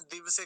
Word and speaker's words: दिवसे: अगला शब्द देखिए दिवसे, दिवसे नहीं बोलेंगे, वकार आधा नहीं होना चाहिए, पूरा ही रहना चाहिए, नहीं तो यहाँ भी गलत उच्चारण हो जाता है, दिवसे कह देते हैं।